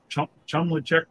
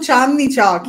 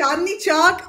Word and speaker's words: Chandni Chowk: to check out the, help me with the pronunciation, but Chumla Chak Market or something, and right outside of the old Delhi. Oh, Chandni Chowk. Yes. Did you go there? Are you serious? You went to Chandni Chowk?